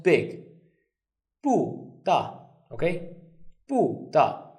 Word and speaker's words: 不大: Now the second rule is, if we have two four tones, look at this one, 不大, the first one becomes the second tone. So it will be pronounced as 不大.